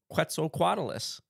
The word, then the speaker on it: Quetzalcoatlus: quetzalcoatulous that's so cool quetzal quadalis there we go I said it right that time there we go I think you were going for six in that last time dang it it's hard it is it's a hard word to say properly but the five syllable trick helps yeah still deliverable still